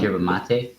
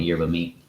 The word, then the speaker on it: yerba mate: I think it's pronounced yerba mate in the actual the actual pronunciation, but I hear people calling it yerba mate.